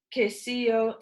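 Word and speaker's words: queso: her on the wall a sign read KCU k CEO I said sounding out the word but flora and Fabiola nodded approvingly it's pronounced k CEO sent Fabiola but you are learning very fast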